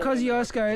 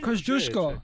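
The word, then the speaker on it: Kosciuszko: Mount Kaziosco is actually Mount Kosushko.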